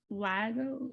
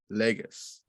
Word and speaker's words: Lagos: He was at Lago. Did I say Lago? Is it Lagos? I don't know. They're gonna come for you, know. Lagos.